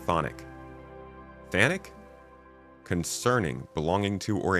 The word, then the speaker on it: Chthonic: Chthonian? What the heck is Chthonian? Chthonic? Oh, it's just pronounced thonic.